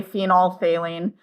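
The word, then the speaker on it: phenolphthalein: phine phenol phine and we actually just don't pronounce the pH we just say phenol failing unless you want really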